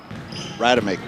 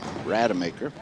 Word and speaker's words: Rademaker: that was number two jalen rotomaker i'm saying that name right ryder maker excuse me rata maker get some phonetic spelling